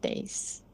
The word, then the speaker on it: days: I had hard days. I had hard Days. days. Days. Right? Point of emphasis for us is the Days. Z sound at the end.